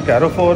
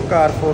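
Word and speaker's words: Carrefour: तो गाइज अभी जो है हम एंटर हुए कैरोफोर में। ये कुछ चीज़ें भूल गए थे। वो क्या भूल गए? कहते हैं इसको कारफोर कहते हैं। कारफोर कहते हैं, कैरोफोर नहीं कहते।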